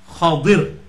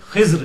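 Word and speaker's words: خضر: ये अरबी में इसकी प्रोनाउंसिएशन है खा के ऊपर जबर, द्वाद के नीचे जेर और रा के साथ हम उसे पुर कर देंगे खदर, हम उर्दू में इसे खिज्र कहते हैं।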